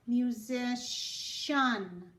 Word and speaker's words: musician: Next, I have the word musician, shun, C-I-A-N. Good.